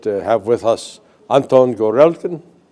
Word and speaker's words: Gorelkin: And I am today fortunate to have with us Anton Gorelkin. Correct pronunciation? Yeah, Gorelkin.